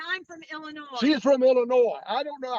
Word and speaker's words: Illinois: from Illinois she's from Illinois I don't know how and that's Illinois with s is silent I don't know how